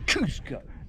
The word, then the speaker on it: Kosciuszko: You've got to pronounce Kosciuszko to get the Polish inflection. Kosciuszko.